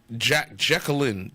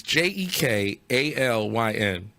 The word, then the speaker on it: Jekalyn: No, is Jacqueline. Jacqueline. It's Jekalyn.